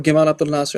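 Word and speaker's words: Gamal Abdel Nasser: They targeted Jamal Abdul Nasser or Gamal Abdul Lassar as they pronounce it in Egypt.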